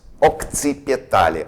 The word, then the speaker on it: occipitale: Two letters C, but one of it pronounce it as ok, and the next occipitale.